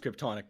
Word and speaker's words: Crypto Nick: What if I made it Crypto Nick? But it's pronounced Kryptonic now.